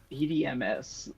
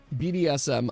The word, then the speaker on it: BDSM: BDMS. You said it wrong, you bastard. BDSM.